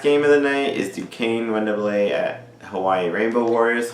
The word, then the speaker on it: Duquesne: It's pronounced Duquesne.